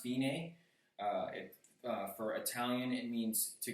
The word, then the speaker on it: fine: It's pronounced fine. For Italian, it means to go to the finish. So if you look at that word that says fine, though it's pronounced fine, go all the way to the bottom, and